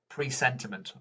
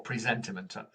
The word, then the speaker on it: presentiment: In fact, I think his claim to fame is that he's discovered presentiment or presentiment. It's spelt the same way, but it's pronounced differently, where they've shown that